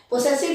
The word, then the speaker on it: possessive: इसको पजेसिव case भी बोलते हैं, पोसेसिव भी बोलते हैं, दोनों प्रोनाउंसिएशन सही है। जैसे आप बोले पोसेसिव भी बोलते हैं और पजेसिव भी।